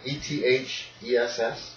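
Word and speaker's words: Ethess: Okay, wait, spell that for me. Ophelia. Ophelia is just normal spelling. Yeah. Ethes? Yeah. E-T-H-E-S-S?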